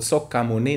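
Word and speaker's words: 석가모니: Korean, it's called Sokamuni, not Shakyamuni, because the Sanskrit got a little bit morphed in the pronunciation.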